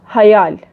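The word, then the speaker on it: hayal: Like Urdu का ख़याल, इन Turkish हयाल. थोड़ा सा प्रोनाउंसिएशन का डिफरेंट है, लेकिन meaning is same. And seventh one सिर्फ.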